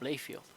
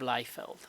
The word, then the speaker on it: Liefeld: created by by rob layfield um actually it's i said uh it's lifeveld rob leiffeld that's the right right way to pronounce it created by a